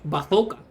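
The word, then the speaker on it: bazuca: to get bazooka or as we say in Spanish, bathoka.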